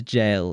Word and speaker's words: gaol: Yeah, you pronounce gaol as jail in modern English, as far as I can remember.